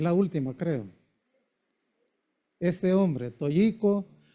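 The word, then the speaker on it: Toyohiko: Este hombre Toyico. Toyjico, porque en Japón el en el japonés la H se pronuncia como J. Cagua.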